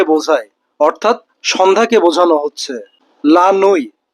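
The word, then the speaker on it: la nuit: লানুই দ নাইট অর্থাৎ লানুই বলতে রাতকে বোঝানো হচ্ছে এবং সর্বশেষ লোমিনই লোমিনুই বলতে মিডনাইটকে বোঝানো হচ্ছে।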